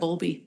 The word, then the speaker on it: Bowlby: I'm mispronouncing that. Bowlby.